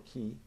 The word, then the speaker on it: Qi: through which energy called Chi CH I or ki Qi flows and the pronunciation depends if you reading that from Chinese or Japanese text but the whole idea